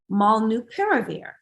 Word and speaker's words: molnupiravir: And let's jump into our next topic, Merck's new antiviral molnupiravir.